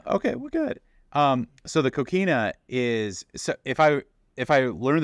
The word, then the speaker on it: coquina: Coquina.